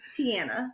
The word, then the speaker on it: Tianna: Her name is Tianna. Not with the O.